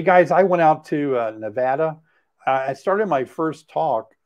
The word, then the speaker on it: Nevada: And right off the bat, I said Nevada. I said the word Nevada. And immediately I said Nevada, you know, and it was like, it was so hard for me to give up saying something that I said wrong that many years.